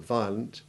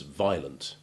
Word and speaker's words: violent: the second vowel where it is unstressed and has a weak ivy sound, as in the O of violent, or violin, or the first A in that awful word, diarrhea. Such words are often mispronounced by sloppy speakers without the second vowel, as violent or diarrhea, despite the fact that